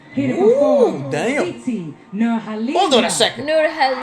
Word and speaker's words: Nurhaliza: And she pronounced it with an H. Nurhaliza.